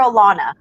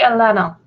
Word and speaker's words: Elena: just checked it hi is it atlanta or alana oh it's actually elena okay it's yep nope